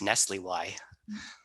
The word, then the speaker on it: NSLIY: day in this business, but apparently NSLIY, which is the National Security Language Initiative for Youth, is pronounced Nestle Y.